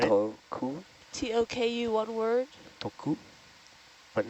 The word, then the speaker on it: Toku: But not, are you saying th instead of tuh? No, it's like more like a D. Yeah. Teiru, like Yes. Teiru is saying that when you say her name, It's less like a t and more like a d. It's not so sharp.